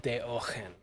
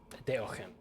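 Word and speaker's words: Deogen: So apparently it's pronounced Daogen. Daogen. That's how it's pronounced in Dutch. I'm just gonna say Diogen because that's easier to say.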